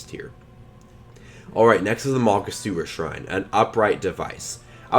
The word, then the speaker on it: Makasura: I really love the Makasura Shrine. Yeah, that is how you pronounce it.